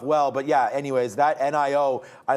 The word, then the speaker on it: NIO: NIO is the pronunciation.